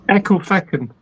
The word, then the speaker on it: Ecclefechan: Jamesy Boy says, see if Marcus can pronounce this place. What the fuck? Ecclefechan. Say again? It's called what the fuck? That's Ecclefechan.